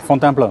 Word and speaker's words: Fontainebleau: Tomorrow morning I'm leaving for Fontainebleau, is that it? How do you say it? Fontainebleau, yeah.